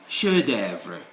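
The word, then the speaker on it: chef-d'œuvre: With this F, it is also silent in certain words. For instance, when you say chef d'œuvre, you don't say chef d'œuvre, you say chef d'œuvre.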